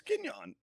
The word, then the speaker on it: Kenyon: Kenyon. You're saying his fucking name wrong. It's Kenyon. That's Kenyon.